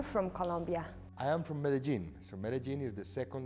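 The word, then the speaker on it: Medellín: where are you from colombia i am from medellin so medellin is the second largest city we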